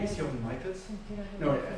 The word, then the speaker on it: Michels: My name is Jochen Michels. No, pronounced I like it really. It's Michels. Boring, yeah. Michels. You can say Michels.